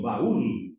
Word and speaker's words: baúl: Baúl, un baúl, eh, un cofre. Para guardar las cosas necesito un baúl. Ahí se está percebiendo, ¿no? Como a letra i y a letra u, que son las vogades fechadas, tenga mayor intensidad desde el lado de vogado aberta las tes que hacer.